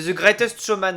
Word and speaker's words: The Greatest Showman: tu prononces tellement mal, j'avais Oui, pas compris. exactement. C'est The Greatest Showman, Aurélien.